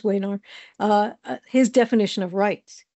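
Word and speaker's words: Wenar: find Leaf wear's definition that's how he pronounces his name definition of it should be vayar but he says wayar uh his definition of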